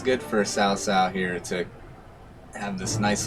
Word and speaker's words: Cao Cao: I know Cao Cao is pronounced like that.